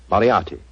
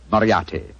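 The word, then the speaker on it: Moriarty: it or mispronounce it I'm afraid I'll have to begin calling it the way it looks m o r i a r t y mariati Mar I shall remember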